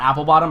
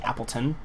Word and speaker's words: Appleton: you guys know um actually it's not apple bottom I keep saying it wrong it's actually Appleton um yeah so my